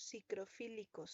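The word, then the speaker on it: psicrofílicos: Entonces, esos son los cicrofílicos, son temperaturas bajas, podríamos decirle así, pero que ustedes sí sepan bien el rango. Entonces, esos son cicrofílicos. Se escribe como suena, nada más con una PS al inicio.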